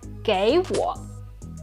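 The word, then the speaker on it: 给我: They are both third tones, which means the first third tone needs to change to the second tone. So we have 给我，给我，给你，给你。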